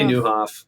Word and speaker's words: Nieuwhof: Yeah, no, so we just say Nieuwhof. Don't hassle the Hof.